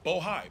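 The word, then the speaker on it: Bohai: Seneca bojay I want to make sure I pronounce it right bohi b-o-h-a-i and the list goes on and on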